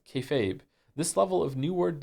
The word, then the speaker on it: kayfabe: refers to essentially treating a bit you're doing that everyone understands as fake as real to facilitate the bit and is pronounced kayfabe.